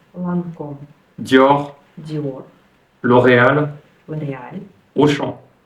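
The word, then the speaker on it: Lancôme: c'est intéressant parce que certaines marques françaises sont prononcé vraiment différemment et d'autres ne le sont pas par exemple Chanel Chanel quartier quartier lancum Lancom Dior Dior L'Oréal L'Oréal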